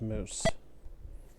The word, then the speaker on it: mousse: Spells closer to mouse, but is pronounced mousse.